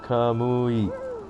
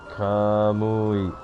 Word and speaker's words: Kamui: Kamui, pronounced Kamui. Ka is a little bit longer. Kamui.